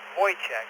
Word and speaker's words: Wojciech: Yeah, first name is pronounced Wojciech, like a void check at the bank without the letter D.